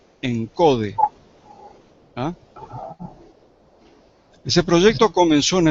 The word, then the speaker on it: ENCODE: allí lo tienen anotado es una sigla por eso lo pronuncio así directamente encode Ah ese proyecto comenzó